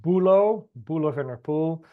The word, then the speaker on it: Boelo van der Poole: So as Hannah said, my name is Boelo van der Poole. I always put it here as well, so you know exactly how it's pronounced, because otherwise I get all these people